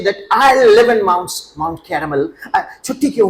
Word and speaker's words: Carmel: Sir, it is Mount Carmel. Carmel.